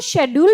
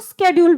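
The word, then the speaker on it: schedule: ट्रेनों का शेड्यूल होता है ना, आप इसको शेड्यूल भी बोल सकते हैं और स्केड्यूल भी बोल सकते हैं, ठीक है, दोनों प्रोनाउंसिएशन सही है।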